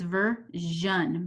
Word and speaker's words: version: this next word version the Shh on this one does have a trick but s doesn't sound like an S the AI doesn't sound like an AI it says version version altogether it's version okay this next word